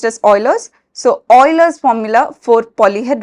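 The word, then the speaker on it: Euler: cool formula about Oilers formula this is actually pronounced as Oilers so Oilers formula for polyed roid so Oilers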